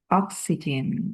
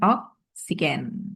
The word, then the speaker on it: oxygen: Starting from now on you have to say oxygen. Bukan oksigen ya.